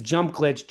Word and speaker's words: JumpGlxtch: way, to SynthWorld listeners, it's JumpGlitch, JumpGlxtch, just so Yep. you know how it's spelled. If you try to type JumpGlitch normally, you're probably not going to find him.